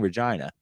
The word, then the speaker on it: Regina: 19771 home Regina Saskatoon if you're saying why are you saying Regina that's how they say it up there I know that because